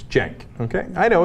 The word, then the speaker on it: Cenk: The C is pronounced like a J, Pastor Manning. It's Cenk.